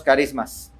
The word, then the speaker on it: charismas: Se escribe charismas, ¿verdad? Ch, pero lo pronunciamos carismas.